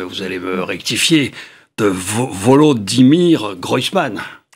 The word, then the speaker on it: Volodymyr Groysman: gouvernement, je vais encore me tromper dans la prononciation, mais vous allez me rectifier, de Volodymyr Groysman. Volodymyr Groysman.